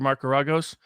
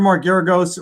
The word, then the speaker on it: Mark Geragos: my advertising pitch for marcaragos if you want to lose hire marcaragos well there's nobody loses like he does i think you're mispronouncing his name also i think it's mark that may be deliberate